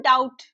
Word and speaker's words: doubt: अब जो हम एक शब्द लिखते है ना डाउट। ये जो लिखा हुआ है डाउट। डी ओ यू पी टी। डाउट में बी तो लिखते हैं लेकिन बी को उच्चारण नहीं करते।